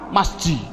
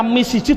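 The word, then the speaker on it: مسجد: Masjid. Mengapa kok dibaca masjid? Mbok dibaca misjid saja.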